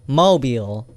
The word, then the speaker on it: Mobile: mobile or mobile mobile mobile so oh like your automobile like that not mobile phone or mobile phone this